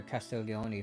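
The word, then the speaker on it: Castiglioni: Okay, so I was pronouncing it right. The G is silent.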